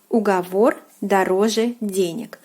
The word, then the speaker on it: уговор дороже: on my notebook and this proverb is pronounced as ugavor darose so let us go